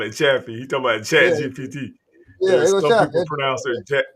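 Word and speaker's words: ChatGPT: Hey, he said Chaffee. Hey, I Yeah, like what he was calling. He called it Chaffee. He talking about yeah, Chat GPT.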